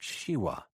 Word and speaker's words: Shiva: He pronounced Shiva as all Balines did so that it sounded like Shia.